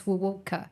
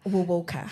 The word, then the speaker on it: Wuwoka: It's just as is Wuwoka. Wuwoka.